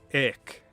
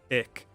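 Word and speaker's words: ek: quite sound right uh one word you're going to see a lot in middle english is ick e-k it kind of has a long a sound ick it just means also it's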